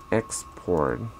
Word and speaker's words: export: word has two pronunciation export and export the pronunciation if it's a noun the stress goes on the first sea level export but